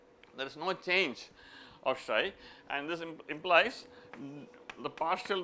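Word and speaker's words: psi: And it is denoted by shai. So this is this Greek letter. The way you pronounce it is like this.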